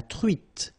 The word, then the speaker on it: truite: nasal, on, espadon, la truite, same thing here, final E not pronounced, T, la truite, le maquereau,